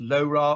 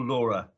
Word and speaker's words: LoRa: stands for long range it's pronounced lora or laura i don't care it doesn't matter um it's definitely not